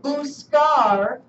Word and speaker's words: buscar: Like we have buscar in this lesson. B-U-S-C-A-R. Buscar. This is a hard C because it comes before the letter A, right?